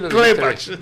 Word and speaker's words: Klepach: Sé que te ríes porque no lo pronuncié bien. No, sí, Klepach.